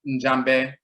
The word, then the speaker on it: Njambe: They pronounce the ya as a ja, just like some of our people say ya, like yeah, and some people say jia, because the Y and J linguistically are interchangeable, and you'll find that in Afuraitkait.